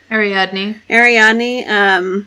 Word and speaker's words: Ariadne: And Asterion is about Ariadne. How do you say it? Ariadne, and she's a badass assassin.